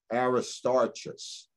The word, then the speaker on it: Aristarchus: because of roman catholicism aristotle's aristarchus is probably the right pronunciation in gaius are mentioned